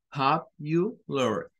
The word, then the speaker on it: popular: Entonces, la pronunciación debe de ser popular, popular, popular, popular, popular. Cuando la pronunciamos rápido, pareciera como que suena una I.